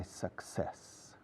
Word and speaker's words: success: Pronunciación sac, como aspirar. Success, como sesos, sin la O. Ses.